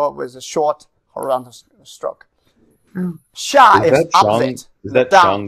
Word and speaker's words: 下: Then Xia is opposite, see? Opposite of Shang. It's called Xia. Xia. Xia. Xia, the fourth tone.